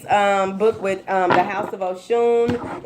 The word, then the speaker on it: Osun: For personal readings, please book with the House of Oshun. It does not have an H in the, there isn't an H in the, in Oshun. It's spelled Osun.